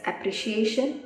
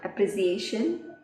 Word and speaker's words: appreciation: Second one is appreciation, not appreciation.